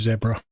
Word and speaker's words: zebra: on the project stakeholders zebra or another way to pronounce it is zebra a zebra is an